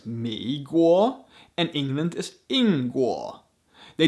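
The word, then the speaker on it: 美国: just based on sound the chinese word for country is guo so america is meguoa and england is ingua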